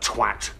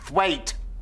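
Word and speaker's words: Thwaite: Twat. It's pronounced thwait. Well, it's spelled twat. T-W-A-T.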